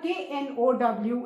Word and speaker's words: know: जो NO वाला no होता है, सेम प्रोनाउंसिएशन आएगा. KNOW is no and KNEW is new, है ना?